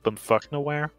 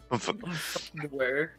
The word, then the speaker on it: Bummfuknoaere: It's actually pronounced Bummfuknoaere. Bummfuknoaere.